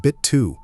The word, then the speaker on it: Bitte: Bitte, helfen Sie mir. Pronounce it bit too.